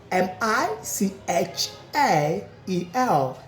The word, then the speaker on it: Michael: M I c h a e l. M I C H A E L. What is the pronunciation?